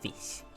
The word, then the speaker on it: GHOTI: So GHOTI is pronounced as fish.